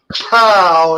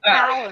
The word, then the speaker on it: Kung Pao: I don't see Kung Pao anywhere. Just And don't entice him. And that's spelled PAO. Okay, just for future reference. Okay. It's PA. It's not pow.